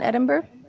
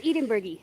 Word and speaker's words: Edinburgh: So you were at the You were all in Edinburgh at the festival? Edinburgh. We were all Edinburgh? Edinburgh. Oh, it's Edenburgy.